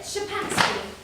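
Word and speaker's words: Szczepansky: No, Shapansky. SZCZSCEPANSKY. And you call it Shapansky.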